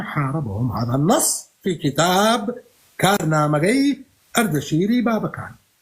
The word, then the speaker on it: كارنامجي أردشيري بابكان: فمن ضمن الملوك الذين حاربهم هذا النص في كتاب كارنامجي أردشيري بابكان. عندما أقول كارنامجي أردشيري بابكان هنا أنا لا أنطق بالكردية، هذا هو النطق البهلوي لاسم الكتاب.